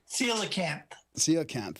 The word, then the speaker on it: coelacanth: And I Coelacanth or something. No, you don't. Coelacanth.